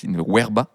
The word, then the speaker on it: verba: ça s'écrit nulus in verba ça se pronce normalement weerba euh qui est une